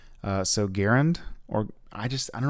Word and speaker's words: Garand: garand i don't know supposedly it's pronounced like aaron you know like i need to go run some errands uh so garend or i just i don't like garand just rolls off the